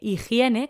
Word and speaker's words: higiene: sonido como una j así que higiene como es je e higiene tiene este sonido mientras que la je